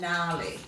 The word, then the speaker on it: gnarly: And we're looking at the silent G in sign, design, assign, gnat, gnome, and gnarly. Now, if you have a look at that silent G, it's coming before an N, so you might like